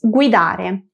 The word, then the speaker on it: guidare: Otro ejemplo fácil es guidare. Guiar en español. En italiano pronunciamos wi, a diferencia del español que decimos gui.